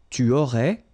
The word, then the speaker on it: tu aurais: Tu aurais, same thing here, final S not pronounced.